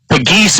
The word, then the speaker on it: Agis: A geese is his pronunciation. Got confirmation on that. So just like the animal and along with Nemo